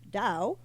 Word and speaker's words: Tao: of comedy or property pronounced Dow in Chinese meaning the path of